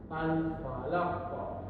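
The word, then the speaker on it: الفلق: ayat maka diwakaf maka dibaca dengan qalqalah yaitu bacaannya dipantulkan atau ditekan dengan kuat dan jelas seperti contoh berikut. Alfalaq. Alfalaqo beda dengan yang yaj'alu tadi. Kalau yajalu tadi dibaca secara tipis. yaj'alu kalau yang alfalaq dibaca alfalaqo jadi mematunya secara jelas ditekan di tenggorat sini albalaqo nanti dipatuhkan lagi dan ditekan secara kuat kemudian jurus selanjutnya ahad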